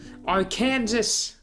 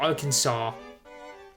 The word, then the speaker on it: Arkansas: that I know of Arkansas or Arkansas there's actually does anybody from Kansas Kansas there's anybody from Arkansas pronounce their state oh Kansas as a joke or do they just cringe whenever they hear somebody say it like that because I'd be curious